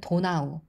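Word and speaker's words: Donau: 다뉴브는 영어 명칭이고요. 독일어로는 도나우 이렇게 발음을 하고요.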